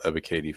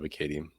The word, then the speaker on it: Ebiketie: be talking about Arnold Ebiketie, the one that got away. But so hit the E in the second syllable of his name, the second E rather, is pronounced like a long A.